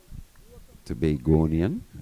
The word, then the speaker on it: Tobagonian: heing from Tobago yeah Tobago tobagonian that's how you say it Bill Joo yes